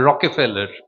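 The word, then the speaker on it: Rockefeller: ঠিক ঠিক উচ্চারণটা হচ্ছে একটা ই আছে মাঝখানে, রকফেলার।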